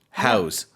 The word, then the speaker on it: house: noun we would say house but when we use it as a verb pronunciation changes a little bit it's more like we're using a zed house that's right so in